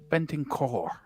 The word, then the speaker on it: Bentancur: Bentancur. I can't get my. You got to roll that. Yeah, I can't do that. That's the key. Bentancur. Just a little brr at the end.